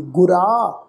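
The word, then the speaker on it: ਗੁਰਾ: इनू गुरा नहीं पढ़ना, रारे नू कन्ना उपर बिंदी लगा के प्रोनाउंस नहीं करना।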